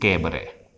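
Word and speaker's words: cabaret: एक शब्द 7वें नंबर पे हमारे लिए है कैबरे, इसमें टी जो है वो साइलेंट होता और इसे पढ़ते हैं हम कैबरे।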